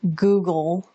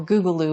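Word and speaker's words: guggulu: Other parts of an Ayurvedic cleanse involve dry brushing, tongue scraping, taking fiber, taking herbs like triphala, ashwagandha, brahmi, google, or googaloo, it's pronounced different ways.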